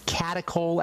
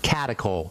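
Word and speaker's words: catechol: you got a pen yes write this down catacol estrogens ask your doctor if they know about those and I'll spell that CAC catacol c a t e c h o catacol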